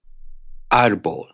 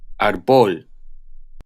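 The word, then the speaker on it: árbol: is in this case here are some examples fantastico arbol if they didn't have the acute they would be pronounced fantastico arbol cortesia corazon and if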